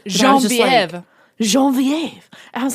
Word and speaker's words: Genevieve: And just so you know, I listened to the audio, and the audio narrator pronounces Genevieve in such a crazy French way. It's Genevieve.